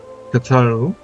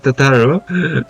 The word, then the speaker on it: Tataru: Tataru? Oh, I don't know why I pronounced her name like that. Tataru, I would ask that you remain at Forton Manor and inform the Count of our decision.